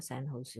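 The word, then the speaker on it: San Jose: अमेरिकेत एक सिटी आहे, त्याचं नाव सॅन, JOSC असं स्पेलिंग आहे, पण उच्चार मात्र त्याचा सॅन होसे होतो.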